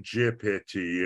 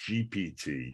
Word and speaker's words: GPT: what they talk about no it's not chat je pity it's pronounced GPT okay Arya I'm giving myself away you know